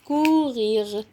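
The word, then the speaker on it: courir: الاو مع السي هقول كورير كورير بس كده اه ممكن الار دي انطها غ اقول كغي كغي كورير كغي كورير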